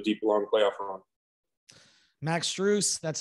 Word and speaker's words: Strus: team into a deep long playoff run max streuse that's how you pronounce it we appreciate it uh thanks man